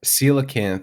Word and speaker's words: coelacanth: Coelacanth, yeah, that's, Coelacanth, which cool ass word.